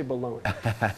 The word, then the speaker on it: bologna: bologna bologna in here it says it's spelled bologna but we say balloon why is that I